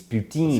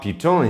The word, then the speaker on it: poutine: or pu or Putin unbelievable it's ptin see what the pronunciation is no puton is ptin not puton puton is a swear